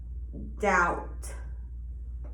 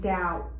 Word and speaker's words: doubt: so we have um b is usually silent when it follows m or proceeds t in the same syllable for example climb or doubt so that as you can see the b is silent climb and doubt h is silent when